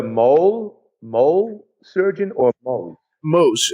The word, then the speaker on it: Mohs: Mohs, and it's spelled Mohs, but it sounds like the Mexican food chain, Mohs.